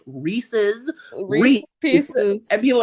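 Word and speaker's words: Rhys: God, there's an actual pronunciation guide, and someone still will call him Rice and I'm like, who is Rice? Who? It is because she even writes like Reese and then we'll put Reese like Reese's Reese Reese, and pieces.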